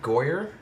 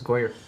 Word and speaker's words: Goyer: ] writing um because is it David goyer writing this it's goer um once again you